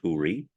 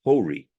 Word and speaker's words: Ḥūriyya: being whom I called Ḥūriyyaʿ. Ḥūriyyaʿ is an Arabic term. The more common Turkish pronunciation of her name is Huri. The Persian pronunciation of her name is Hori.